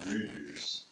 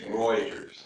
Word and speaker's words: Reuters: It's not Reuters. It's Reuters.